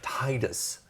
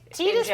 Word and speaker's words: Titus: But like here, is it supposed to be tetus? Tetus would be the Japanese pronunciation, but we don't like we don't do that. We don't look at a T and an I and make a TE noise in our head.